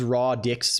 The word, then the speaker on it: radix: It's pronounced raw dix BTW.